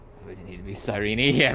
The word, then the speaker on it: Cyrene: I was saying Cyrene, because that's how I thought it was pronounced, but when Cyrene introduced herself, she said Cyrene.